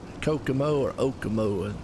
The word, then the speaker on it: Kokomo: the race of how to pronounce Kokomo or ogumo and it's a Kokomo well I never really heard it pronounced and I was out some of the